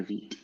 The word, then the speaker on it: Vite: hosting a talk on Vite or Vite or however that's supposed to be pronounced. I know this is French, so you're supposed to say Vite.